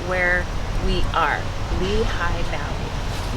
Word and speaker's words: Lehigh Valley: Lehigh Valley. Lehi Valley Gorge. Jim Thorp. And you know that it's funny. Um the way it's I was pronouncing it Lelay Valley and I actually uh in the visitor center